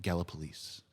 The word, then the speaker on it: Gallipolis: No, he's from, let me pronounce it right, Gallipolis.